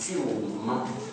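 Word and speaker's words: سلم: The word Islam comes from a root in the Arabic, sin lam mim, and it's pronounced silm, and from it come many words.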